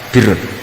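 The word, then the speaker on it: بر: Ya kalau di isim fa'ilnya umumnya guru-guru kita baca barin, tapi untuk masdarnya, untuk kebaikan bacanya apa? Birun. Nanti kamu protes, oh barun itu daratan Gus, kalau birun itu kebaikan.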